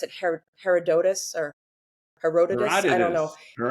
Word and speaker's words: Herodotus: I think his name he pronounced it Herodotus or Herodotus. I don't know. Heroditus, the the historian, the Greek historian.